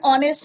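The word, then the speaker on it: honest: H silent है और हमारा यहाँ पे किसका प्रोनाउंसिएशन हो रहा है? वोबल का प्रोनाउंसिएशन हो रहा है. क्लियर?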